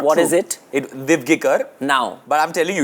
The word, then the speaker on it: Divgikr: I think you didn't give it to me because you've been getting my surname wrong all these years. It's not What true. is it? Divgikar.